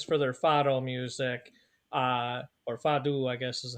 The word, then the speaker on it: fado: So Portugal is famous for their fado music, or fado, I guess is how they Yeah, actually pronounced yeah.